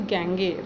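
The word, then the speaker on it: Gagné: Highest form of learning according to Gange, the pronunciation of this word is Gange, right?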